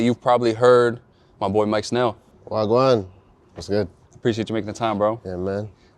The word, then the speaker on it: Mike Snell: My boy, Mike Snell. Wagwan. What's good? Appreciate you making the time, bro. Yeah, man. I pronounced that right? Yeah, Mike Snell.